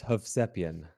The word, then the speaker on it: Hovsepian: Yeah, it's Hovsepian. So it's three syllables. The IAN instead of Ian is like YIN.